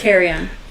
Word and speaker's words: Carillon: You go along Front Beach Road going west till you get to how do you pronounce this word? Carillon? Carry-on. It's carry-on.